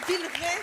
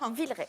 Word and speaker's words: Villeray: Vous habitez Villeray, c'est comme ça qu'on prononce dans la Loire. Villeray.